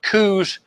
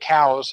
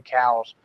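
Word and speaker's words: Coues: hear people pronounce it coups but they were named for an early naturalist Elliot cows and he pronounced his name cows so I'm GNA pronounce it cows some of the differences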